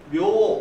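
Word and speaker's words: 明: 명왕인데 이건 묘 이렇게 했습니다. 그죠? 그리고 한 글자 나라 이름을 명할 때는 밍 이렇게 돼요. 일본에서. 그러면 왜 어떤 때는 메이라고 읽고 어떤 때는 묘라고 어떤 때는 밍이라고 읽느냐?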